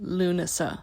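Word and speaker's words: Lughnasadh: know how to pronounce this okay apparently it's pronounced lunasa anyway Midsummer is summer solstice lug NAD is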